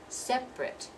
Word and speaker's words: separate: to pronounce it separate it looks like three syllables but we dropped that second syllable and we pronounce this as if it's I T separate separate but if it's